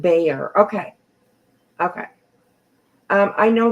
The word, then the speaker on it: Bexar: absolutely um oh they the Bexar is pronounced B okay okay um I